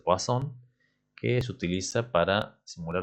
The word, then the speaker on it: Poisson: La de Poisson, se escribe Poisson, pero se pronuncia Poisson, que se utiliza para simular los tiempos entre arribos.